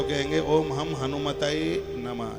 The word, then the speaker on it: हनुमते: बहुत लोग हनुमान जी का मंत्र जपेंगे तो कहेंगे ओम हम हनुमताय नमः, ये बिल्कुल गलत है। इसलिए तो व्याकरण की जानकारी होना जरूरी है। ओम हम हनुमताय नमः नहीं, ओम हम हनुमते नमः।